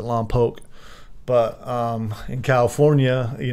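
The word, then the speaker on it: Lompoc: up my time at Lao they pronounce it l pooke but um in California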